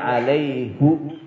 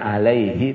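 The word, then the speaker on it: عليه: Waman dan barang siapa aufa yang menetapi dia bima dengan apa-apa ahada yang berjanji dia alaihu. Nah, biasanya alaihi, tapi satu kalimat ini dalam Quran bacanya alaihu.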